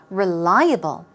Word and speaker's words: reliable: Moving on to reliable. Here we go. Let's practice the pronunciation. Reliable. Reliable. Although it starts with a R-E, it's not really a re sound. It's r, r.